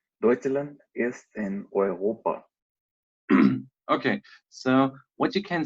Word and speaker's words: Europa: And the answer is, Deutschland ist in Europa. Deutschland ist in Eu Europa. Europa. Deutschland ist in Europa.